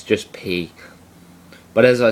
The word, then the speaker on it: pi: You can do the same with P and say pi. But professionally, when you get into it, it should be pronounced P.